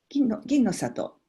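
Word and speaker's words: Ginnosato: C'est le Ginno Sato, je crois, la variété de riz, si je ne me trompe pas. Ginno Sato.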